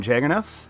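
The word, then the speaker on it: Jagernauth: And I have with me our managing editor, Kevin Jagernoth. Am I saying that right, Kevin? Yeah, actually, just like the Django trailer, the H is silent.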